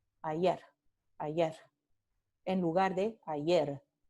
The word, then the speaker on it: ayer: Entonces, en lugar de decir ayer, se dice ayer. Ayer, ayer. Entonces, aquí no vibran las cuerdas vocales.